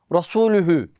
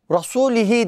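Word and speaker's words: رسولُه: Normalde ayetin sonu Rasulühü. Ama nasıl okuyor? Rasulihi diye.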